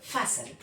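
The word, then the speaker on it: fasten: ये चारों एक साथ आए हैं तो इसमें टी क्या है? साइलेंट है। तो ये क्या पढ़ेंगे? फैसल। फैसल देखिए।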